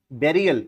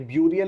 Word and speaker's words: burial: फ्यूनरल मतलब जला देना, बेरियल इसको पढ़ते हैं बेरियल, ये ब्यूरियल लिखा हुआ होता है, BURIAL इसकी स्पेलिंग होती है, लेकिन इसका करेक्ट प्रोनाउंसिएशन बेरियल है।